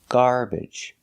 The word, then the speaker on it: garbage: So, we can make that sound garbage. But you can also pronounce it with the short e like eggs in bed.